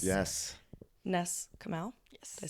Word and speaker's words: Ness Comeau: Ness Comeau.